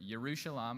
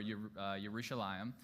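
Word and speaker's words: ירושלים: But, yushalam or yushalam. There's two parts. There's the year part city. And then there's shalom or shalam which sounds like shalom, peace.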